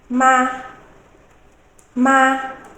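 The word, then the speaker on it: 骂: We pronounce it as ma, ma, mama, mother. We also have ma, ma, with a rising tone. What can you see as the meaning there?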